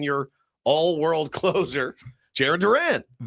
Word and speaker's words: Duran: Yoan Duran. Duran. Duran. Duran. Okay. It's not like Duran. Duran. It's more like Don.